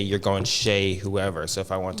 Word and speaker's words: Chez: shade on tay um it's pronounced Shea and not chess I know a lot